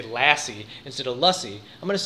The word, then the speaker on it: lassi: It is not difficult to say lussie. And that's lussie and as in duh, in case you or someone you know are still having trouble remembering how to pronounce it.